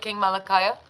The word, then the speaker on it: Kingmalakiyah: Kingmalakiyah?